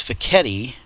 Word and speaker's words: Fekete: with on tall etti if you can't remember how to pronounce it my wife told me just think of spaghetti so it's faketti and it's a fascinating